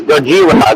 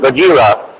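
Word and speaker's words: ゴジラ: Um you say his name right is Gojira. Gojira. Yeah that that is right.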